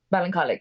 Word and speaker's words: Ballincollig: You're from, okay, actually, you're originally from, I'm definitely going to pronounce this wrong, Ballincollig? Ballincollig.